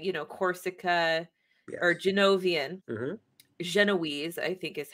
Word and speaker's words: Genoese: Genoese, I think is how you pronounce it. Yes. Genoese.